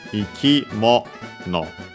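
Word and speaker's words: 生き物: Actually, ikimono. the accent is on the mo.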